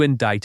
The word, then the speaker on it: indict: They decided to indict him.